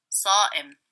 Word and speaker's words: صائم: صام, صائم.